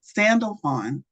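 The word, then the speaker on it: Sandalphon: name last week either sand sandal Fon sandal Fon thank you that sounded like jackline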